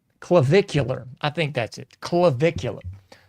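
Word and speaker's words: Clavicular: Clavvicular. I think that's it. Clvicular. So allegedly, you got a a grown man going by. I believe it's pronounced clavvicular.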